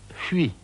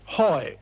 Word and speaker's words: Huy: News had just come in that the German armies were making for a place on the Meuse called Huy. H U Y. It's a very difficult word to pronounce in English.